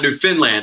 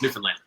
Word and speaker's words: Newfoundland: um newfoundland is that i gotta say it right newfoundland right yeah it's not new finland it's newfoundland um and it's about